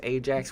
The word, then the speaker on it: Ajax: It's Ajax with a J, just so you know.